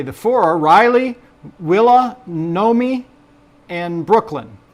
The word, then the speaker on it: Nomi: But it it seems like it should be something. It's like Naomi that didn't quite make it or something.